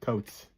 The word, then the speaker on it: Coutts: John Alexander Scott Coates. I think that's how you pronounce Coates. Coutts.